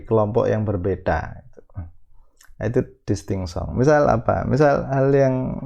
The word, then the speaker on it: distinction: Kalau dalam bahasa Prancis, konon katanya bahasa Prancis itu membacanya distinction. Saya cuma niru saja karena saya tidak bisa bahasa Prancis.